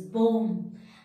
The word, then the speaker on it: bomb: That means whenever letter B is sitting just after the letter M, in that case, we are not pronouncing letter B. In that case, letter B is the silent.